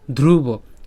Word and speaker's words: ধ্রুব: কেন ধ্রুব? কারণ এটা দ না, এটা হচ্ছে ধ। ঠিক আছে, তো একটু জোর তো দিতে হবে, তো চাপ তো দিতেই হবে, তাই না? তার মানে ধ্রুব।